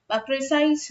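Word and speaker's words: précis: r i c i so those who are uh pronouncing it about those who know this as precise writing let me tell you you people are also correct it's not an incorrect pronunciation writing basic rules something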